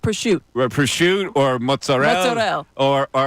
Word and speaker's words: prosciutto: Yes, like prosciutto. Prosciutto or mozzarella. Or like fagioli. Like, where do we get fagioli? Because, the vowel at the end is there, and yet you don't pronounce it.